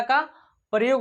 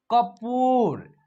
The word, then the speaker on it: कपूर: लगेगा, उसके बाद र, तो इसका उच्चारण जो होगा कपूर। यानी कि प में बड़ी ऊ की मात्रा है तो इसको खींच करके करेंगे।